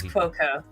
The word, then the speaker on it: Cuoco: because I'm not a big fan of Kaylee Cuoco or however you say her name. It's Quoco. Cuoco, yeah, she was fine in 8 Simple Rules.